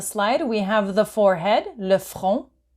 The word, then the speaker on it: le front: To the right-hand side of the slide, we have the forehead, le front. So you don't pronounce the T. Le front.